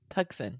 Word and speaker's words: Tucson: You're going to have, I think it's pronounced Tucson. Tucson, yeah.